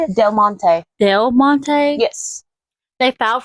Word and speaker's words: Del Monte: I want to make sure I pronounce it right. All right. Well, how do you say it? Del Monte.